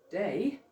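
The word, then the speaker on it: די: So this word dalot yod, which is pronounced day, is the Hebrew word for enough.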